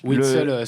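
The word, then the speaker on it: Witsel: C'est pas facile à prononcer, avec Witzel ou Witzel, comment on dit? Witzel, si on veut vraiment la véritable prononciation belge.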